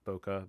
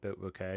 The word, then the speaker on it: bokeh: Like the It has like a a bouquet. Bokeh bouquet. I think that's like the actual pronunciation.